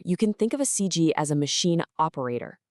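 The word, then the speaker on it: 司机: Okay, the word is s and it's pronounced cg. Let's really listen to those tones. It's a first tone followed by another first tone.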